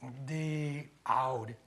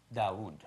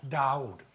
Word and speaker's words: Daoud: The Aoud. No, Dawood. Daoud. Now he said it right.